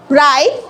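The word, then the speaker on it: write: ডবলিউ এর পরে এচ বা আর থাকলে ডবলিউ এর উচ্চারণ হয় না। যেমন রাইট রাইট অর্থ কি?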